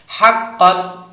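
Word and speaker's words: حقًّا: সহি কোন সমস্যা নাই হাক্কন হাক্কান হা কফ জবর হাক্ক দুই জবর কন হাক্কন একসাথে হাক্কন কি উচ্চারণ হাক্কন আবার হাক্কন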